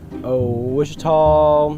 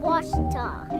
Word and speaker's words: Ouachita: Wichita. Achita. Ouachita. Is it pronounced Ouachita? Searching for Ouachita Baptist University. Back in Texas, everybody pronounces it Wichita, but really, it's Ouachita. Ouachita. Ouachita.